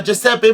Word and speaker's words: Giuseppe: free independent Republican Nation you'd say it like a jepe Masini neither of them could